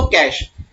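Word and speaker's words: cache: याद करो बेटा कैश, बोलते क्या है इसको? कैश, दैट इज प्रोनाउंस करते हैं हम लोग इसको कैश।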